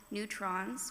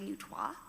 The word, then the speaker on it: neutrois: The book called Who Are You uses the words trans, genderqueer, non-binary, gender fluid, transgender, gender neutral, neutrons, which the correct pronunciation of that word is actually neutrois, bigender, third gender, and two-spirit.